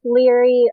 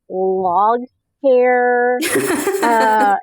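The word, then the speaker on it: Laoghaire: known as leg hair, is how anyone who like read her name before they ever like find out how to pronounce it, it's spelled like Laughaire, and so you read it and you're like, log hair, and then you just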